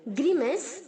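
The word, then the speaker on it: grimace: Grunts, grunting, ग्रीमेस, ग्रीमेस्ट, ग्रीमेस्ट। ग्रीमेस में जो सी है बच्चों वो एस की तरह साउंड करेगा, ओके।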